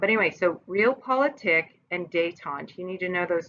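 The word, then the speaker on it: détente: going to lead to date aunt that's that term here with a D and a accent on the e te n te date on it's a French term right but anyway so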